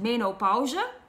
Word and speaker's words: menopauze: In Dutch it's pronounced menopauze, and in English it's, I think, menopause.